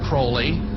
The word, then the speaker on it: Crowley: be have his name pronounced crowley to rhyme with holy and uh the satanists